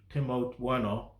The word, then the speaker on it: Timo Werner: But either way, and I had a feeling that the striker Tim Timo Werner. Yeah, they pronounce his name Timo Werner.